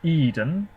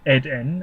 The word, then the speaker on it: Eden: put Victoria and then Eden or Ed n as you probably pronounce it in Sweden uh oh yeah is